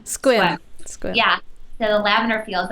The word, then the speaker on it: Sequim: Is it Sequim or Squim? Squim.